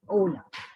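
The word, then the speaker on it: hola: by saying the word ola it is it might be written as h.o.l but it is pronounced as ola italian in italian we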